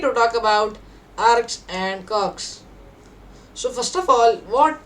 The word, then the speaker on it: kwargs: Arg means non-keyword arguments, which spells as ARGS, and KWARGS, cogs, is pronounced as cogs, and its full form is keyword arguments.